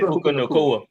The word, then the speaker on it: Puka Nacua: What's how to pronounce his name? Yeah, you said Puka Nacua. You said Puka Nacua.